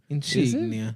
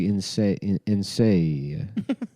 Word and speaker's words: Insignia: I think it's Is that how it's pronounced? Yeah, cuz it's Italian. Insignia. I thought it was like insia.